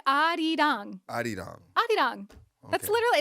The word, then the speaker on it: 아리랑: It's not Arirang, it's Arirang.